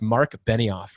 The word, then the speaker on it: Marc Benioff: it was but and I make sure I pronounce his name correctly it's Marc Benioff right the Salesforce right horse anyway very very